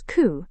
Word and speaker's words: coup: Well, P is silent in many French origin words. Our first word is coup. In Hindi it means takhtapalat. It is pronounced as coup instead of coup.